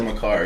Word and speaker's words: Makar: That's how you pronounce it. Cale Makar, yeah.